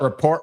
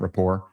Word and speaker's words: rapport: Should have built report with me first." They don't even pronounce it right. They say report, right? Not rapport.